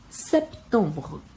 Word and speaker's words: septembre: Aqui temos o P, que ele é pronunciado e ele morre em seguida, o som. E tem o EM, que tem som de ON, e o E no final não é pronunciado.